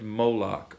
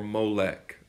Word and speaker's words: Molech: is basically just your in Hebrew you don't have bowels you only have consonants so you have M LK and however you want to pronounce that Molech Moloch and this was a